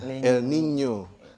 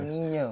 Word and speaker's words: El Niño: Ada masanya kalau N-nya itu sebenarnya dibacanya La Niña ya, El Niño. Karena ada N-nya itu ada tilde-nya. Ada curug di atasnya. El Niño.